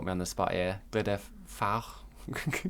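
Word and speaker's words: Glyder Fawr: So I would pronounce it the Glidders. So you put me on the spot here. Glider Fawr, Glider Fawr, and there's three of them basically along the Glider route.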